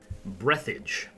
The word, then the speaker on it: Breathedge: know my thoughts after breathage yes that is really how you say it is a single player